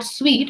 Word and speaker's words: suite: सूट का मतलब होता है फिट, the kurta सूट्स you well, और स्वीट का मतलब होता है, it's pronounced as स्वीट, इट्स अ सेट of rooms.